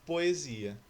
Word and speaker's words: poesia: Mesma coisa ocorre na palavra poesia, que nós temos dois hiatos. Veja lá, po-e-zi-a. A vogal O na sílaba po está separada da letra E, da sílaba E. Então, quando ocorre essa separação de vogais, você tem um hiato, que é a mesma